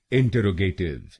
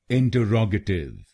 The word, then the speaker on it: interrogative: भारत में अधिकतर लोग इस शब्द को गलत बोलते हैं, जैसे इंटरोगेटिव। आइए जानते हैं इसकी सही प्रोनाउंसिएशन। इसकी सही प्रोनाउंसिएशन है इंटरोगेटिव। इंटरोगेटिव। इस शब्द में 5 शब्दांश हैं। पहला शब्दांश है IN, दूसरा शब्दांश है TE, तीसरा शब्दांश है RROG, चौथा शब्दांश है A और आखिरी शब्दांश है TIVE।